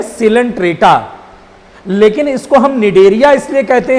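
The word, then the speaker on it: Cnidaria: निडेरिया में बेटा सी silent है।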